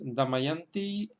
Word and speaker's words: Damayanti: en el caso de damayanti damayanti pues el acento se queda en la sílaba yang porque es detrás de